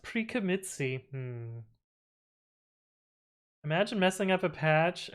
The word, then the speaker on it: pre-commit.ci: here quickly and easily it's pronounced pre-commitsi imagine messing up a